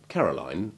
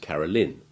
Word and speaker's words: Caroline: for the noun too as for caroline and caroline you will find both pronunciations in use hence the names appearance